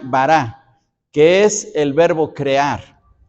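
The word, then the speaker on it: ברא: y esta del otro lado esta palabra se pronuncia bará que es el verbo crear pero crear de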